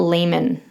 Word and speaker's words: Leeman: If you are not familiar with the area, we're talking about Leman in WA.